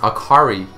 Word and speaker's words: Akali: Akali is pronounced Akari in Japanese meaning light, bright, cheerful, which is actually a contrast to her actual title, which is the fist of shadow.